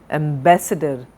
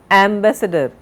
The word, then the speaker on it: ambassador: Adjective, accident, advocate, acronym, agency, algebra, ambassador. Now, where is the stress? On the second sound. We do not say ambassador, ambassador, second syllable.